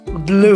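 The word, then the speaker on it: blew: আমরা শ্রাবন্তী, আমি আমরা দুজনে জানি এটার উচ্চারণ ব্লু নয়, ইটস ব্লু। ব্লু, নীল রঙের যেমন উচ্চারণ, ঠিক ব্লো এর পাস্ট টেন্স হচ্ছে ব্লু।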